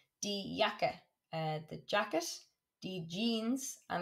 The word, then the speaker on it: Jeans: Or trousers, die kurze Hose, shorts, die Bluse, a blouse, die Jacke, the jacket, die Jeans, and it's not jeans, that's actually you pronounce it the English way, die Jeans, the jeans,